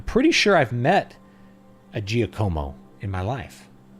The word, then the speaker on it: Giacomo: sure I've met a Giacomo in my life. And that he was Giacomo, not Giacomo. With like that weird soft G.